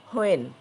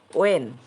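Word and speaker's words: when: এখানে আমরা বলি হোয়েন, এর সঠিক উচ্চারণ হচ্ছে ওয়েন।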